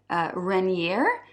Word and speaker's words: Renier: So here I have a really nice fragrance called Kisses Rain, and it's from the house of Renier. It's spelt R-E-N-I-E-R, and it's a house from the